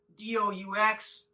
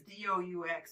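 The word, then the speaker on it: doux: want something really sweet it's d-o-u-x i don't know how to say it i'm gonna say do but i know that's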